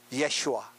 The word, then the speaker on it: 예슈아: 여호수아의 히브리어 이름이 뭐냐면 예슈아, 예수라는 뜻이에요. 예수는 헬라어 발음이고 히브리어 발음은 예슈아, 여호수아라는 말이에요.